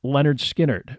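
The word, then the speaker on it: Lynyrd Skynyrd: letters to that end the first album was called pronounced Leonard skinnard with a phonetic depiction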